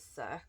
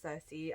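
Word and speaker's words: Circe: Achilles and spoiler Cersei I accidentally pronounced this as suck um in one of my videos I know it's Cersei um it's Litman Ray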